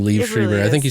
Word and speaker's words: Liev Schreiber: Yeah, it's really weird to say his name, Liev Schreiber.